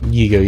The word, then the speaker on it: Yiga: Yiga, yeah, you said it right.